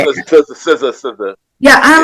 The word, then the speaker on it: SZA: Like I know Ziza, or what? How do you say it? SZA.